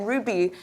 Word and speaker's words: Hruby: and I'm like, hi, I'm Hruby. And they're looking behind me, is your boss coming? I'm like, I'm the boss. The H is silent, okay?